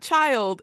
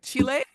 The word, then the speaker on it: chile: like child, and yeah, it's not child, it's spelled yeah. more like Chile. Yes. With the running L.